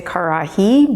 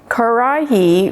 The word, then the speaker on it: karahi: kodai and i know it's not an easy word to pronounce because of the the r bit or the rabbit in the word karai karahi when you pay attention